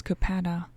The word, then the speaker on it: Kapata: fierce young man was kapata with an accent on the first syllable kapata was also the